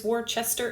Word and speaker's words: Worcester: versus georgia um or worcester wooster versus georgia sometimes it's warchester it depends on where you're from how you say it sort of a thing